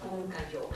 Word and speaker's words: Pumcayó: And tell us a little bit more about Pumcayó.